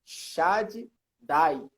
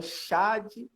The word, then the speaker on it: Shaddai: Ele falou que ele estava, uma certa feita, num culto, e um determinado pregador foi pronunciar o Shaddai. Ele falou Shaddai. Nossa! Falou Shaddai.